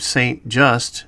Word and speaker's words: Saint-Just: an Asian character named Saint Just who does many of the things Christie would later do in the film. For disclosure's sake, the script states the character's name is supposed to be pronounced Saint-Just.